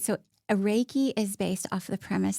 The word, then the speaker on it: Reiki: And then can you help me pronounce, is it Reiki? It's Reiki.